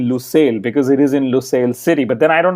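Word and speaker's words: Lusail: with an o or is it lucel with a u because F1 and teams are using different things and I think I'm using you because that's what I read last that it is lucil no it is lucil isn't it it it is it is Wikipedia says both and I know I'm the only one who reads Wikipedia and Toto wolf probably definitely doesn't so Wikipedia said you and O are both correct if I'm not mistaken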